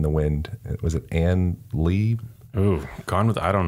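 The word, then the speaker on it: Leigh: name i'm pretty sure is anne lee that spelled like l-e-i-g-h she died of tuberculosis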